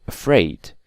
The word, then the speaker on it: afraid: on the first syllable but again we have exceptions like the word afraid you can clearly see that these stress is on the second syllable so afraid or polite okay these are exceptions